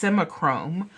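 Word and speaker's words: Simichrome: Catalan or Bakelite is you would use simich semichrome and semichrome you can actually buy almost anywhere online and it's spelled s-i-m-i-c-h-r-o-m-e that is s-i-m-i-c-h-r-o-m-e it's semichrome and that is the number one to me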